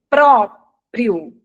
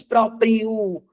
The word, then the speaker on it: próprio: da pronúncia é próprio. Você não diz proprio.